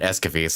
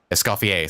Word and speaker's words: Escoffier: Mizuki's, Veressa's, and yeah, and Escoffier's that just came out recently. Escoffier, sorry. Keep pronouncing her name wrong.